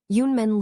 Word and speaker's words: Yunmen: Yunmen literally means cloud gate or cloud door. Yun is pronounced sort of like Yoon, and men rhymes with the English one or ton.